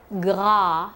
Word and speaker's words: gras: like PA Gaz or another word gra for fat those will be posterior open a and no accent so